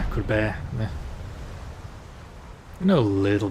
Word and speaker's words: Courbet: I know it's not Courbet, that's for sure. Courbet.